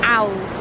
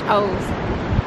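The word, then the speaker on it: Owles: holes now it's about owls but it's actually pronounced holes and it's one of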